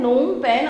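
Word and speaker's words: Phnom Penh: यहाँ पर P और H जो है वो साइलेंट में है, नोम पेन, और इसकी जो करेंसी है वो है रियल।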